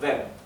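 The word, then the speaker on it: wem: v v a quién fíjense como yo estoy diciendo vem estoy pronunciando la e más larga e no estoy diciendo vem estoy diciendo vem por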